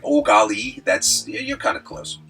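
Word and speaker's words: Eau Gallie: cool little area called oali uh which is French but it's it's pronounced think of yourself like an exasperated Canadian just like oali that's you're kind of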